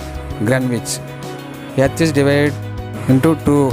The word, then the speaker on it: Greenwich: Spelling is green, but you must spell or pronounce Greenwich.